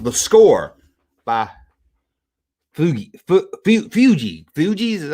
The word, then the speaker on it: Fugees: Fugees is how you say.